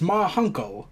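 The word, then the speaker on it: Ma Hunkel: It's pronounced Ma Hunkle.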